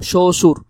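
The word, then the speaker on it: শ্বশুর: গেছে তাইলে সুর এটা আর এখানে তো লেখা আছে একটা কিন্তু আসলে উচ্চারণটা যদি আমরা লিখতে যাই তাহলে হবে এরকম শশুর।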